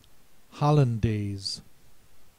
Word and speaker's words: hollandaise: Next word, hollandaise. The diphthong A spelled with A-I.